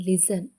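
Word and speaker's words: listen: ಪದಗಳಲ್ಲಿ N silent ಆಗಿದೆ T silent ಆಗಿರುವಂತ ಪದಗಳು ಹಚ್ ಎಎಸ್ಟಿಇಎನ್ ಹೇಸನ್ ಅಂದ್ರೆ ತ್ವರಿತಗೊಳಿಸು ಎಲ್ ಐಎಸ್ಟಿಇಎನ್ ಲಿಸನ್ ಅಂದ್ರೆ ಕೇಳು ಓಎಫ್ಟಿಇಎನ್ ಆಫನ್ ಅಂದ್ರೆ ಆಗಾಗ ಇವಿಷ್ಟಲ್ಲಿ ಟಿ ಸೈಲೆಂಟ್ ಆಗಿದೆ ಯು ಲೆಟರ್ ಸೈಲೆಂಟ್ ಆಗಿರುವಂತ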